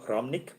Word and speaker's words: Hromnik: If you had to research, search Cyril Romnick, his surname is spelled Hromnik. Hromnik, Cyril like Cyril Ramaphosa, and Romnick, Hromnik.